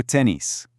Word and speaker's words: tennis: The French tennis has a very sharp, clear is sound at the end. Let's hear it. Listen and repeat. Je joue au tennis.